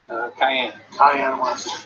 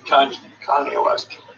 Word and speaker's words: Kanye West: Cayenne West. Kanye West.